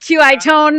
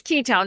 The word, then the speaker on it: Qitone: I pronounced it Qi Tone this morning, but it's Ketone.